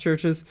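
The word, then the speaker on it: Chvrches: is called churches it's pronounced churches nope it's pronounced churches but it is spelled CH HR V c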